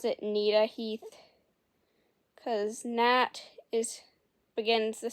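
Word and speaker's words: Gnita-Heath: going to pronounce it nah Heath cuz Nat is Begins the same the word natat begins the same way and I'm just going to do that cuz it's similar okay when the sixth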